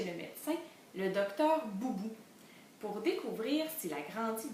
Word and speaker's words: Boubou: Dans boubou, j'entends la syllabe bou. Je mets un B majuscule parce que c'est le nom du docteur. Un O, un U pour faire bou.